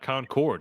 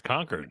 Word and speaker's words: Concord: got Lexington and conquered you said it right too not Concord it's conquered that's right yeah always